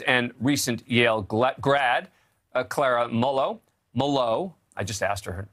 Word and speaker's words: Molot: The article, written by journalist and recent Yale grad, Clara Mullow, I just asked her how to pronounce her name, too.